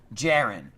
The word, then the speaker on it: Jaren: With kind, caressing, tender love and care, Jaren. It's pronounced like Jared, but with the N at the end.